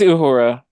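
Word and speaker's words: Uhura: you say her name is it ahura or Ura or it's Ura yeah Ura okay who who is in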